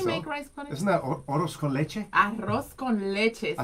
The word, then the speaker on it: arroz con leche: Isn't that arroz con leche? Arroz con leche. I said it. She always amazing. fixes my pronunciation.